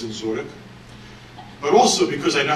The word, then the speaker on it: Dzinziruk: One is I couldn't really pronounce his name at the time, but it's Dzinziruk.